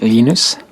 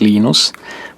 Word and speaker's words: Linus: When I speak Swedish, it's Linus. When I speak Finnish, it's Linus. When I speak English, it's Linus. And I really don't care how people pronounce my name.